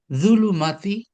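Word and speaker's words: ظلمات: কেউ একজন ভলেন্টিয়ার এটা হয়ে কি বলেন তো যে জু লাইক চিড়িয়াখানা, জু, জুলু, জু, জুলুমাতি। আচ্ছা, এটা একটা উপায় আছে।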